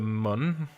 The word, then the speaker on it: Mun: here this is the Mun let's pronounce moon I have always said Mun and this is minimus